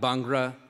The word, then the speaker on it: Bhangra: That's Bhangra. Or Bhangra is actually the more correct way.